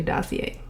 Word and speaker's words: Dossier: Hey, so the pronunciation is actually Dossier, but carry on.